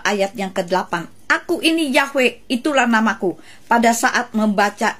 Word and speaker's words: Yahweh: Dikatakan dalam penulisannya memang Yahweh, tapi pengucapannya Adonai. Mana bisa hal itu terjadi, saudara? Tulisannya Yahweh yang keluar dari mulut dengan kata Adonai.